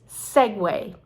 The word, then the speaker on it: segue: So it's Segway, just like that moving machine that was spelled as we pronounce it.